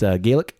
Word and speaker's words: Gaelic: It's Gaelic or Gallic, depending on how you want to pronounce it.